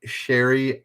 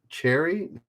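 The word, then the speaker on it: Chérie: Cherry? No, I don't think it's cherry, is it? My Cherry Amore or My Sherry Amore? I would think it's Sherry, but it is a CH. So Denjoga, Here Fan, and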